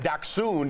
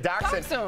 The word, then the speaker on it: dachshund: Yeah, when we were going to break, I said Dachshund instead of Dachshund. Sam Shocker told me how to pronounce that.